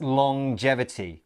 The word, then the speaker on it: longevity: live longer yes now take note about the pronunciation of this word it's a little bit strange it's longevity so we have the at the end of long as normal but then there's this J sound as well longevity let's look at